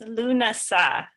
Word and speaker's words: Lughnasadh: get to that and it's pronounced lunasah and i'm going to